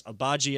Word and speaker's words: Agbaji: I will make sure I get the pronunciation right. I know it's Agbaji as his last name.